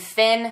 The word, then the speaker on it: Fionn: In the interview, it was just Harry and Finn. And yes, I heard that's how you pronounce his name. The O is silent, but I still want